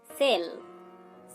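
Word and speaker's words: cell: Next উদাহরণ দেখুন, সেল। সেল দেখুন এখানেও আমরা সি এবং ই কে পাচ্ছি। এখানে দন্ত স উচ্চারণ করছি ঠিকই কিন্তু তার সাথে একটা স্বর যুক্ত রয়েছে, সেটা হচ্ছে এ।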